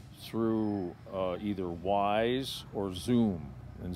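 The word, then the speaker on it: Xoom: uh either wise or zoom and zoom is spelled X oom okay and those are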